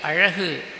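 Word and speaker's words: அழகு: Namadu thai mozhi, adil irukkakoodiya alagu, alagu, I am speaking alagu la, not la or la.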